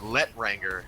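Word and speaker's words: L'Étranger: The Letranger, as a American like me would pronounce it.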